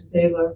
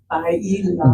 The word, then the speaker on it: bailar: I learned it as Baylor, but okay. Bailar. Bailar. Yeah.